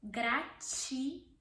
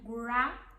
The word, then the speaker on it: gratidão: There's the sound at the end. Gratidão. Gra or gra. When you don't know how to roll your R yet, you can do gratidão. Gratidão. Or if you know how to roll your R, gratidão.